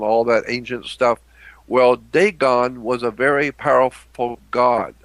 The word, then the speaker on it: Dagon: name down write this name down it's called dagon and it's spelled d-a-g-o-n dagon d-a-g-o-n dagon well dagon was a god